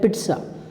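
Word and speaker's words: pizza: पिज़्ज़ा नहीं होता है, पिट्ज़ा.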